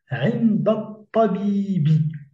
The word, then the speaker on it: عند الطبيب: Et puis le fait qu'il y a cette liaison entre l'adverbe de lieu, inda, et le mot qui le suit, à savoir at-tabib, on ne va pas prononcer également le elif. Ce qui fait que on ne va pas prononcer l'article défini, ce qui va nous donner cette prononciation avec la liaison inda tabibi.